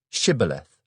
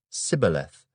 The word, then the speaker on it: Shibboleth: If he said, "No," then they would say to him, "Then say, Shibboleth." And he would say, Sibboleth, for he could not pronounce it right.